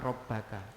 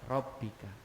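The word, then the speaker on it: رَبِّكِ: boleh taruh di sini bacanya tetap Hai robbe Kak bukan robbaka robbika ini Rahasianya Nahwu kalau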